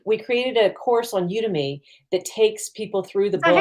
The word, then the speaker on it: Udemy: We created a course on Udemy that takes people through the Is that how book. you pronounce it? Udemy? Yeah, We always say people do Udemy. it both ways.